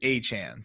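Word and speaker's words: Achane: say his name the the tweets I saw it said that he said it's a chance so I mean okay I'm gonna go a-chan for now if I if we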